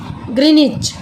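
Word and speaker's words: Greenwich: इन ग्रीनविच in London, it is also called ग्रीनविच, pronounced ग्रीनिच. क्योंकि यह British royal observatory से गुजरता है, ग्रीनविच से, लंदन से, इसलिए इसका नाम ग्रीनविच है जिसको ग्रीनिच प्रोनाउंस किया जाता है.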